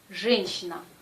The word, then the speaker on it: женщина: Par exemple, женщина, женщина. Ici, la consonne J est dure, toujours. Et la lettre Y perd sa première partie, le son Y. Il se prononce E. E, женщина, женщина. C'est pas женщина. Le son J n'existe pas en russe, c'est toujours je.